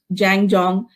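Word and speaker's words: 站桩: practice it's done in china and it's uh pronounced as zhang jong it's a dynamic form of meditation so uh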